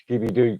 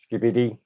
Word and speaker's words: Skibidi: Skibby Doo toilet. If I've said it right. Skibidi, skibidi.